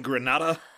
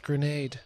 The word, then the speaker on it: grenade: and lives before this were you in granada you mispronounced grenade no i knew i